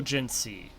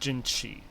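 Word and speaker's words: Jinhsi: I'm pretty sure it's still Jinsi, not Jinshi. Even though that's how the game is pronouncing it.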